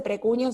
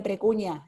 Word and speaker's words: precuña: Primero, no se dice precuño, se dice precuña en castellano.